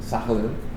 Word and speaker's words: Sakhalin: So you were a young guy growing up wild in how do you pronounce the name of the Sakhalin. Sakhalin.